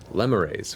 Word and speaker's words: lemures: from, though you're also seeing large groups of lemures, which is how it's pronounced, as I've been corrected. And I'm so glad it's pronounced that, not lemurs, because it sounds awful in hell.